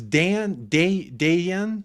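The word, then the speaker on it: Dejan: It's Dan, like Dan. I think the J is silent. It's like Dan. You pronounce it Dan Kulisevsky, I think.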